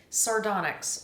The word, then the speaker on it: sardonyx: It's spelled Sardonyx. What does this look like? Sardonyx.